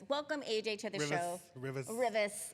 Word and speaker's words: Rivas: Rivas. Rivas. Yeah, there you go. Say it like you're from the West Side, girl.